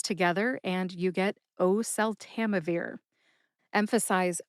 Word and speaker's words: oseltamivir: I notice that I hold on to that first syllable, o, at the start of oseltamivir, kind of like I do with valacyclovir.